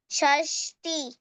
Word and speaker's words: षष्टिः: Sir, can त्रिंशत्, you say त्रिंशत्, त्रिंशत्, त्रिंशत्, चत्वारिंशत्, चत्वारिंशत्, चत्वारिंशत्, पञ्चाशत्, षष्टि, षष्टिः। हाँ, ई के बाद विसर्ग है।